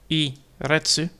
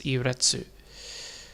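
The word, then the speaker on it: い列: i retsu because the su is still spoken out on this one because it's not i rets, it's i retsu.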